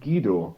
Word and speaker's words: Guido: Yeah, but it's actually pronounced Guido. Yeah, there you go. Okay. So there's no W, and it's not Gui, so it's just Guido.